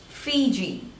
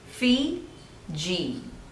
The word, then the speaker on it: Fiji: third one Ethiopia Ethiopia Ethiopia Ethiopia next is Fiji Phi G Fiji Fiji Fiji next is Finland Finland there are two syllables and the stress is on the first